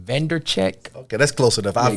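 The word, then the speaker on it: Vaynerchuk: How you pronounce his last name? Vandercheck.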